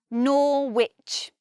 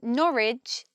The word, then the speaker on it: Norwich: another thing is lit in Ipswich we hear the W but we don't say Norwich in Norwich there is no W the sound disappears I think it's because the tongue flows much more easily if we just say Norwich and we don't adds